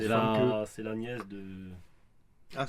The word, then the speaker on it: Famke: Ah, parce que vraiment, ça se prononce C'est Famke.